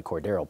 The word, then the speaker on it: Cordarrelle: than Gostkowski does but quarter L Patterson who are now pronounced apparently cordarrelle Patterson I've always thought Cordero